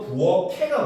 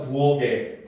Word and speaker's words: 부엌에: 부엌에 같은 경우는 부엌해가 맞습니다. 부엌을 같은 경우도 부엌클이 맞아요. 알겠죠? 근데 학생들 자꾸 부엌에, 부엌을 이렇게 발음하잖아요. 그렇지? 이런 거는 잘못된 발음이에요. 알겠습니까? 그래서 부엌해, 부엌클 이렇게 발음해야 됩니다.